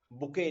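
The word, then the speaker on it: bouquet: ठीक है, जैसे आप बुके लेते हो तो बुके में भी टी साइलेंट रहता है.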